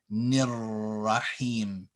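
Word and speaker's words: ٱلرَّحِيمِ: So here you take the fatha or the kasra and connect it to the ra, which is from the sun or solar letters that has a shadda. Nirrahim, nirrahim. You don't pronounce the alif or the lam here.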